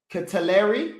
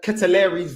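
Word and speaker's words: De Ketelaere: games at just 21 years old the uh catalari i think is how you say his name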